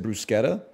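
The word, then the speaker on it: bruschetta: said brother you live you learn he said brusketta that's how you say it bro the waiter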